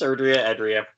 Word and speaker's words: Erdrea: The whole game takes place in, how do we pronounce this, guys? Erdrea? I've heard it both ways. Yeah. So it's Erdrea.